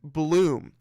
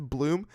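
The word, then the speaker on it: Blume: You know, I like that name, Kenneth Bloom. What a wonderful last name. It's spelled B-L-U-M-E, but, you know, pronounced like B-L-O-O-M, like a flower bloom.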